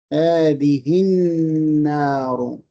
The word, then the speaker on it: النار: So how would you pronounce it again? هذه النار.